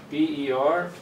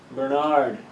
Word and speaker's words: Bernard: And in the States, I'm not American by the way, my name would be pronounced Bernard, right? Stressing the second syllable. But I'm from Ireland, and we stress the first syllable, Bernard.